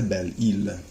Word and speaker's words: Belle-Isle: and les droits de Belle-Isle. Careful always on phonetics on not pronouncing the S.